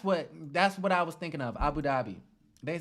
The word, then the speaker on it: Abu Dhabi: Abu Dhabi. They said, is that how you pronounce it? Abu Dhabi?